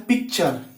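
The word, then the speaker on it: picture: उसके बाद है पिक्चर, यहां भी टी के बाद यू आर आया यानी कि पिक्चर यानी कि तस्वीर।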